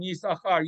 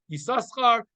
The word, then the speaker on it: Yisachar: Midrash says that's why we don't pronounce the second shin in Yisachar. Yisachar is never pronounced Yisaschar. It's always Yisachar. Even though there are 2 shins in the letter, in the word, or 2 sins in Yisachar, only one of them is pronounced, one is silent.